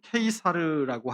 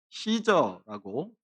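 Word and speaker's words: Caesar: 라틴어로는 케이사르라고 하는데, 이것을 우리말 성경으로 번역하면서 이 케이사르를 우리말로 쉽게 가이사라고 번역해 놓았습니다. 영어로 와서는 시저라고 소리나는 대로 발음이 되죠.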